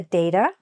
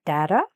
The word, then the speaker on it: data: We've reviewed the data or data, pronounced both ways.